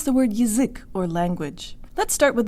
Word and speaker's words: язык: So here the ya will sound like y, y. Now the whole word. Jaw tan lips. У-ы-язык, у-ы-язык, язык, язык, язык.